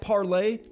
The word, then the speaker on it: Parler: read that tweet did you read that parlay it doesn't just doesn't have the same mouth feel it doesn't roll off the tongue it's not as easy it's an extra step parlay it's two syllables par lay tweet it's one syllable